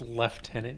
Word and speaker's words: lieutenant: sergeants going through be Lieutenant Lieutenant then sergeants it's pronounced leftenant you